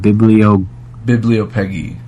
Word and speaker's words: bibliopegy: Anthropodermic bibliopegy. It's a practice of binding books in human skin. That's what it's. Human dermic skin bibliography book. Yeah. Or not bibliography, but bibliopegy. All right. Bibliopegy.